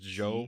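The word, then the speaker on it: Zhou: years of the okay how do you pronounce z h o u is it just Joe z h yeah o u okay of the Jo Jo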